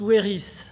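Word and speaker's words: Wéris: Donc on prononce Weris.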